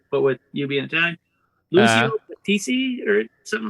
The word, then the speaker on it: Lucio Battisti: You could probably pronounce it better because, but with you being Italian, Lucio Battisti or something like that. Lucio Battisti.